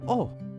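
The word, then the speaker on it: お: next character this is oh it's the equivalent of the vowel o in English you pronounce this as o o is a short vowel let's practice writing it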